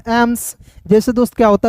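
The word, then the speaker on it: AIIMS: पढ़ लीजिए एम का म एस का स एम्स जैसे दोस्त क्या होता है पटना एम्स होता है दिल्ली एम्स होता है यानी कि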